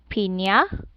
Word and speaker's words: piña: Enya changed into Y. And here's an example. Piña, piña. Piña, piña. Yeah. Here, nya. See?